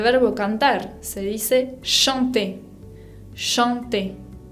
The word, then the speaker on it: chanter: Chanter. Ven que acá tenemos una nasal, A con N, chanter. Bien, tienen que sentir que el aire sale por la nariz.